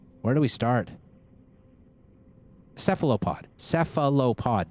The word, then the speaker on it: cephalopod: Cephalopod, John. Cephalopod. That's 4 syllables.